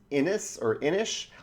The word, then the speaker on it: Inis: My number 9 is Inish, I-N-I-S. I think it's Inish. I think that's the correct way to pronounce it.